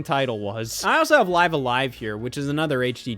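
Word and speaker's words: Live A Live: No, it's called, you have to pronounce it Live Alive.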